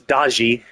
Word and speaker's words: Daji: Well, Chinese, you know, Chinese history does talk about it as Daji, D- A Ji, whereas in Japanese it's Daki, but it's just how you it probably uses the same characters, same Chinese characters. uh it's just how each culture prances them.